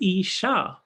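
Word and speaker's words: ईशा: Isha, like in Ishopanishad, means the Lord. But Isha, with a long A at the end, is the feminine form.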